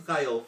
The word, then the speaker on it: Thayil: Kim Thayil, for instance. That starts with tile.